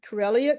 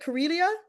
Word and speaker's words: Corelia: So, let's start with um, Carellia. Curelia, is that am I pronouncing it correctly? Yes, you are pronouncing it correctly. It rhymes with Australia.